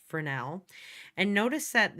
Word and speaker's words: Fresnel: it says fresnel um I know it's spelled f-r-e-s but it's pronounced fresnel and notice that it's